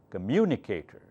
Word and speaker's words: communicator: mu nu K turn five syllables which one is the loudest mu mu is the